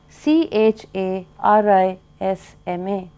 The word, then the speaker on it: charisma: key and then you have another word like c h a r i s m a which is pronounced Charisma again we will always need to